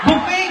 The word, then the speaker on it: buffet: Buffet, bobo. Tama, bakit? Buffet! Marunong ako magbasa. Spell mo! B-U, dalawang F-E-T, Chat, walang Y. you pronounce it as buffet.